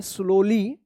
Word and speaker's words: slowly: देखिए यहां पे ओ के बाद W है तो इसका ओ उच्चारण हो रहा है स्लोली।